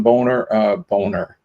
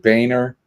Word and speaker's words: Boehner: On this day in 1949, John Boner. I think he pronounces. He said Boner. I think he pronounces it Boehner.